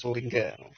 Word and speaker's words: Suringa: Suringa ya tulisannya, tapi bacanya Suringga.